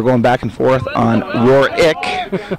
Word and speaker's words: Warwick: So we're back to the action, and Calvin and I were going back and forth on Warwick. I'm saying Warwick, I guess. Warwick. It's Warwick. Calvin's always correcting me here on the mic.